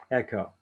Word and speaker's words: AECKO: I call this special type of case AECKO, pronounced echo.